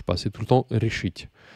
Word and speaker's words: решить: C'est tout le temps решить. C'est tout le temps sur la terminaison.